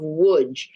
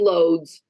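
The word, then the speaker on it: Łódź: in Poland in the town of wood which is pron is spelled l o DZ so I'm going to say loads for the so people understanding can look it up but loads was the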